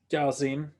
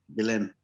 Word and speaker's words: Ghislaine: The other is an inheritance to some person, which for all we know could have been Jalzine. Oh, I can't even pronounce his name. Ghislaine.